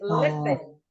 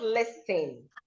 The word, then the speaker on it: listen: Next is listen. Listen, not listing. These are silent letters.